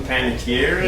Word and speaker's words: Panettiere: Hayden Panettiere?